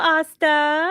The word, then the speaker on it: Aastha: Hello, Asta. Hi, Cheetah Goda. How are you? And Asta loves to put the whole Asta rhymes with pasta in her, But you thing know below.